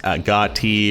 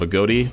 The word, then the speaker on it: Agoti: Last AGOTI video, people were telling me his name is pronounced AGOTI or even AGOTI, but in the Captain Jack Attack video, interviewing the creators of AGOTI, the creator of the character pronounces it AGOTI.